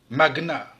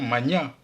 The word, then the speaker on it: magna: Dans tous ces mots, le G et le N se prononcent séparément, alors qu'en général, le GN se prononce comme dans agneau, comme dans igname, ou encore ignorer. On prononce donc pugnace, stagner, gnome, agnostique, magna. Dans le cas de magna, cependant, la prononciation magna est aussi acceptée.